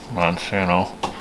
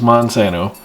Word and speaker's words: Monsanto: I need companies that we could profit off of because of, horrible stuff like Monsanto. It rhymes with Onsano.